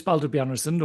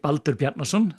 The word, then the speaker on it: Baldur Bjarnason: So, uh my name is Bald Bian or uh if you if you're Icelandic, Balnerson. Um I don't mind either pronunciation.